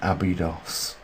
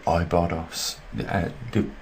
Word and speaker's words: Abydos: Temple of Seti in Abydos, or Ibados, depends on how you want to pronounce it, but that's what I wanted to look at.